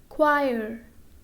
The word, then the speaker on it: choir: For example, choir. Okay, here after C there is letter H and letter H is silent.